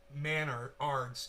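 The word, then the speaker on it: Menards: Pronounced Manards. It's the Canadian Home Depot. Manards. Like manners, but Manards, like manners with a D.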